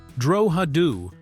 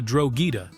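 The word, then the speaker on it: Drogheda: The correct Irish pronunciation treats the and quote as a soft aspirated sound creating droadu rather than the drogita that American actors naturally produced.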